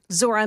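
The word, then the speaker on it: Zohran: Lord, I know that if you just take the H out of the first name, you'll you'll look when you look at it, you'll be able to say it better.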